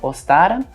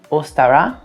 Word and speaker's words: Ostara: Você pode falar a brasileirado mesmo, ostara, mas eu já vi pessoas falando ostara, ostará e ostara. Mas como eu sempre defendo, você pode falar a forma abrasileirada, ostara, que tá tudo certo.